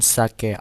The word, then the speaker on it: 酒: Meanwhile, in sake alcohol, the first syllable has a low pitch and the second syllable has a high pitch.